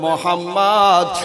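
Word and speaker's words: محمد: ছেলেটার নাম লিখে দাও মিম হে মিম দাল পরেস্পর উচ্চারণ হবে মোহাম্মদ আর মোহাম্মদের মানে হইলো চরম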